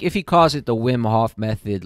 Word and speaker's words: Wim Hof: talking with the win wim HOF is that how you pronounce it yeah wim HOF method we breathing technique